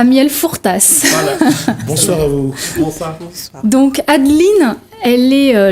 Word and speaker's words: Fourtas: et Eddie à miel le S se prononce à la fin et dit à miel Fortas bonsoir donc Adeline elle